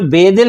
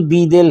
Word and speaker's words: بیدل: یہ جو بے دل ہے نا اصل میں اس کا تلفظ بی دل ہے.